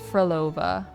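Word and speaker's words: Frolova: I always think it's like the dessert like Pavlova, but it's Froolova.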